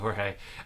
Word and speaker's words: Jorge: and by the way did you pronounce your name george or jorge or how should i pronounce it okay cool yes it sounds good thank you jorge uh is that is